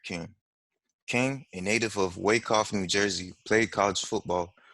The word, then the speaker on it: Wyckoff: Hey, by the way, Wyckoff, did I pronounce it right? It's Wyckoff. It's Wyckoff. Okay.